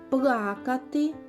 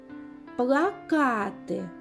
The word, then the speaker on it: плакати: падає на другий склад плакати плакати чим відрізняються ці слова так у першому слові наголос пада на який склад на перший а у другому плакати на який склад на другий замок замок молодець